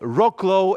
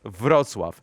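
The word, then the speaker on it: Wrocław: So Rocklow is actually the name that probably most of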